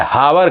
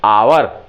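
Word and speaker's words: hour: देखेंगे इसको जो लोग एच ओ यू आर हावर घंटे को जो है लोग कहते हैं टू ववर थ्री हावर नहीं हावर नहीं क्या कहेंगे हम आवर क्या कहेंगे आवर कहेंगे इस से आपने एच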